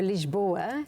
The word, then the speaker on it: Lisboa: to Portugal's okay so lisboa is how you say this boy it's the guest